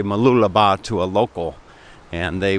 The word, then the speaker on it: Mooloolaba: it right oftentimes I'll say that in say Mooloolaba to a local and they will they'll detect